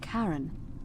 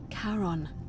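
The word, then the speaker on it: Charon: it's just as you described it only your pronunciation is a little off the name you heard wasn't karen it was c-h-a-r-o-n as in caron the ferryman of the dead caron who in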